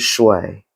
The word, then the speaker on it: Shui: It is Shui.